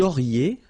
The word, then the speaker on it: auriez: Vous auriez, liaison here, and then EZ will go like E.